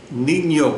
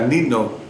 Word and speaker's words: niño: lo que nosotros hacemos leemos la palabra niño por qué Porque arriba tiene la pestaña Si no tuviera la pestaña la pronunciación fuera Nino usted la palabra sueño